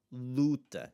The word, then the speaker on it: luta: The u is in that penultimate syllable. It's going to have the open sound that you're going to have there. Luta is the word for like a battle or a fight.